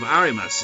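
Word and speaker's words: あります: it's the same with arimas it's not arimasu it's arimas it's like that silent letter that you freaking getting quite a lot of English words isn't it silent bloody letters I mean you can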